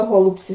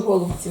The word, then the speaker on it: голубці: це я взяла хотіла голубці зробити хочу голубці зробити голубці чи голубці хто як знає бо наголос по-різному ставлять хтось каже голубці хтось каже голубці і